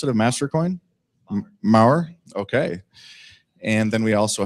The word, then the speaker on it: Maher: Is that how you pronounce it, of Mastercoin? Maher, okay.